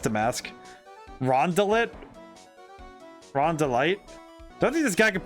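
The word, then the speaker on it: DeLite: Pronounced Delight.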